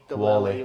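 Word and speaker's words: Whalley: Wally.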